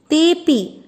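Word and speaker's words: तेऽपि: तेपि ते धन अपि, ते वो भी, अर्थ में अपन अवग्रह को अ लेते हैं लेकिन उच्चारण में नहीं।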